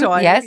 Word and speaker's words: Bakuchiol: So I am using, you have to help me to pronounce that name because the I don't know. Bakuchiol serum. Bakuchiol, Yes.